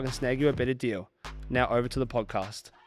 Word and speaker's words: Deas: see if I can snag you a better deal.